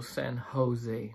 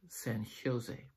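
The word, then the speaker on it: San José: It's also San Jose, not San Jose.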